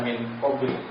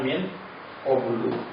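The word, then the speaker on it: مِنْ قَبْلُ: didahului oleh huruf jar, maka dia nggak dibaca min qabli, nggak dibaca min ba'di, tapi dibacanya min qablu atau min ba'du.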